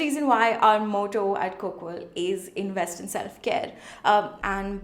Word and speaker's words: Koqal: It's pronounced as Coquel.